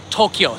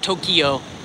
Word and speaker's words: Tokyo: and the city's per pronounce Tokyo two syllables not Tokyo I say Tokyo quite often but Japanese